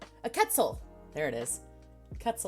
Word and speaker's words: quetzal: quetzal there it is cuts a like pretzel very vague memories of